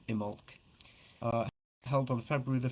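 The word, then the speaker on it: Imbolc: Festival IM imul it's spelled imul but it's pronounced imul uh held on February the 1st or second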